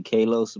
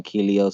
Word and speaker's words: Kalos: yeah, it's supposed to be Kalos, but everyone calls me Kelios, so it's fuck it. It's Kelios.